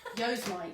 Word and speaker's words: Yosemite: I only found out recently was Yosemite.